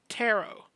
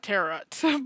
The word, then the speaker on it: tarot: image we are going to be talking about tarot that's how is actually pronounced not terot but hey I'm not the one to judge